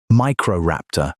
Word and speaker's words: Microraptor: Microraptor, pronounced micro raptor.